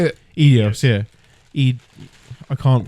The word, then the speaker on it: Eidos: Eidos, yeah. I can't pronounce that.